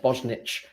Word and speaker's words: Bosnich: I know who it is now, but I can't say it's Bosnic or Bosnich. That's the one, Bosnich.